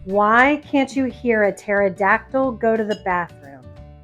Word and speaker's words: pterodactyl: can't you hear a pterodactyl go to the bathroom because the p is silent okay so now that